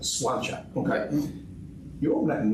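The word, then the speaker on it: Sláinte: We pronounce it Slainte. Slainte.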